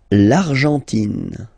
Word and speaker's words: Argentine: L'Argentine. Okay, so you've got this nasal here. En, l'argent, and then tin. Don't pronounce the final E. It just gives you the pronunciation of the N.